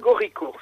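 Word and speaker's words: Gaurico: était Luc goric alors je je je le prononce lu Lua gauco en italien gorico si vous d'accord Lucas gorico alors Lucas gorico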